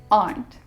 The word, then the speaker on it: aren't: Now in British accent, it sounds the same as aunt, your mother's or father's sister. But in my accent, in American accent, we pronounce the R.